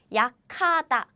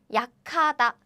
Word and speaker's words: 약하다: Again, we don't write it like this, but we don't write it like 약하다 because this is combined as 카. We don't write it like this, but still, this is how Korean people pronounce it. 약하다, 약하다.